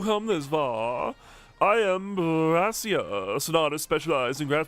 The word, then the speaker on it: Brassius: I am Brassius, an artist specialized in grass pipe Pokemon. I'm also the gym leader here. Brassius. That, well, brass rhymes with grass, so I think that was very deliberate.